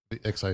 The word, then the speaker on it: arXiv: ARXIV. Oh, you literally like say it out phonetically? Okay.